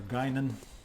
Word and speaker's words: Guinan: Or Guinan, I guess is the way they pronounce it on the show.